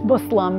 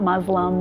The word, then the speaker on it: Muslim: writers and producers and telling them how to pronounce things properly and you know it's bacchus thon it's not Pakistan and its Muslim not Muslim and you know things like that that make